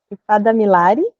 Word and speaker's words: Ifádámiláre: E hoje a gente convidou a ou a Ifada Milara, e aí me ajuda a pronunciar, Lou, o segundo nome? Ifada Milari.